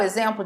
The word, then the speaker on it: exemplo: São 3 palavras que são escritas com X, mas são faladas, pronunciadas com o som de Z.